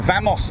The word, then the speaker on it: Wamos: me near you so vamos is on radar I say I call it vamos even though it's got a W at the front of it I think the pronunciation